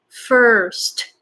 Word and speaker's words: first: So S and T pretty strong. Not first. First. St. Very, very strong. First. So it's like you're cutting the air with S, with T, but S just comes out uncontrollably and very, very strong. And then use T to stop the air.